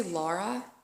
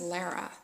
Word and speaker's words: Lara: because I feel like I owe Lara an apology I say Laura or Laura or it's her name's Lara it's l a r